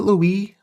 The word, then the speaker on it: Louis: and stuff like that I think it's pronounced that way though because it's like a French thing maybe I don't know maybe I'm gonna call him Louie because everybody does so